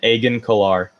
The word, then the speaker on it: Agen Kolar: Sassy Teen, or Saucy Teen, however you're gonna pronounce it, and then Agen Kolar. Agen Kolar.